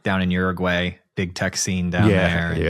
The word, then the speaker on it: Uruguay: It's Uruguay. That's the correct way to say it? Uruguay. Yeah. Okay, my bad. I've been saying it wrong for a decade.